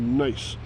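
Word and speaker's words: gneiss: very different kind of rock called nice and nice is spelled g g n i SS it's a metamorphic rock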